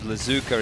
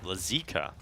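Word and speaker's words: лазейка: here we did where the pronunciation of lazuka is Laika it means loophole in Russian lazika so uh our apologies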